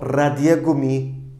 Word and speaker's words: Radiergummi: O Radiergummi de olabilir. Der Radiergummi, hani onu birazcık daha sert bir şekilde gırtlaktan çıkacak şekilde de vurgularsak ne kadar güzel bir vurgu olur.